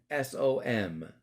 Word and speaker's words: hansom: So this is how you spell it: Hansom. I wasn't saying handsome, like like Mr. Patrick, he's so handsome. I'm talking about hansom.